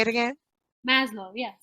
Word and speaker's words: Maslow: thing i keep i always forget how to pronounce that but it's that pyramid say it again maslow yes maslow okay um that pyramid of the things that